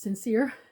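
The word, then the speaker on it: St. Cyr: saint seir St T C yr but it's pronounced sincere um which I I actually have sometimes trouble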